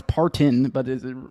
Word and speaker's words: Parton: I've always said Dolly Parton. I know it's Partin, but is it right?